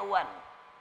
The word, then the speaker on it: one: Tulisannya one, bacanya wan.